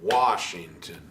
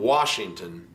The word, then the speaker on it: Washington: But on Washington, it's Washington, Washington. You want to think the emphasis is on that first note. Washington, Washington, Washington.